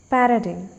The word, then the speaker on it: paradigm: Sometimes G is silent in words like paradigm.